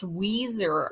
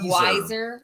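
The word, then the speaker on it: Weiser: do you want to they're saying it's pronounced Weezer Idaho instead of wiser it's Weezer do you want to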